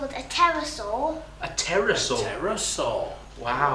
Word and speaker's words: pterosaur: They were actually something called a pterosaur. A pterosaur? A pterosaur. Wow. Wow. And also they begin with a silent P.